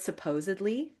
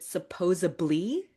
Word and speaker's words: supposedly: But you know the word supposedly? Oh, okay, good. Supposedly I heard da da da da da. Sometimes people will pronounce it supposably with a V sound instead of a D sound.